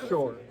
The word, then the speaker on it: Schorr: No, I've mispronounced that name. Sorry. You're close. It's Schorr.